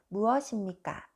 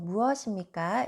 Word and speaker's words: 무엇입니까: If I pronounce each letter, it sounds 무엇 입니까? 무엇 입니까? But we don't say like this. We say this 무엇입니까?